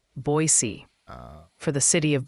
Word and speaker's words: Boise: So it is just Boise. It's not Boise.